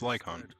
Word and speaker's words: Lycaon: Oh, it's Lycon. Okay. I've been pronouncing it halfway wrong then.